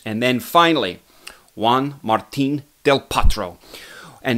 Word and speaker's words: Del Potro: martín Del Potro and not del Potro I think right it's del Potro let me know if there's a couple of Argentines out there and you can give my give your estimation of my pronunciation of Juan martín Del Potro I like to kind